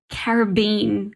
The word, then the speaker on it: Caribbean: and it's incredible because he pronounces caribbean in a way i've never heard anyone else pronounce it he manages to rhyme it with the word dream so it's like caribbean queen it's just it's